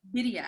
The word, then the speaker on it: birria: Wait, teach me how to say it again. Birria. With a double R.